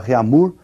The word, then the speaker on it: Réaumur: aí, que é a escala Réaumur, que nós vamos pronunciar Réaumur, né, que é aportuguesado de novo, né, e essa escala